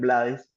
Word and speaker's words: Blades: Hemos recorrido, sí, toda eh toda nuestra hermosa América, diría eh Rubén Blades, Rubén Blade, dependiendo de como lo quieran pronunciar, además de España.